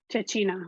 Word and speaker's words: cecina: Cecina.